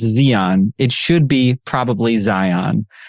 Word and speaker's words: Zion: name like mine where my name is pronounced Zeon it should be probably